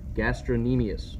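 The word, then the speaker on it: gastrocnemius: gastrin EMU so now that's a weird-looking word but it's really not that bad just gastrin e meais okay I kind of ignore the C - C is silent and that's attached anchored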